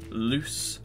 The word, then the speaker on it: loose: me you'll think hmm these will sound the same they don't loose loose not lose like I lost the game or I will lose the game is loose as in my clothes are quite loose which means the others are Z arise desire resemble but answer number 3 is loop loose loose which is an S so the answer here